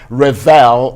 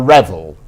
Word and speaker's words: Revel: And I hope I got your name right, because it's either Revel or Revel. That's right. Either way is just fine. Okay, well, we like to get things right. I mean, the British pronunciation would be Revel.